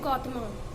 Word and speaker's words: गौतम: Question number 672, where did गौतमा? देखिए हम लोग लिखते गौतमा है लेकिन इससे प्रोनाउंसिएशन जो इसका करते हैं वो गौतम ही करते हैं.